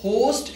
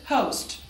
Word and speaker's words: host: होस्ट, इसे हम होस्ट कहेंगे क्योंकि जो ओ है that is actually O, नॉट ओ. होस्ट is wrong, this is होस्ट.